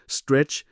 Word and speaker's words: STRC: สิ่ง ที่ เรียก ว่า STRC อ่าน ว่า Stretch นวัตกรรม ล่า สุด จาก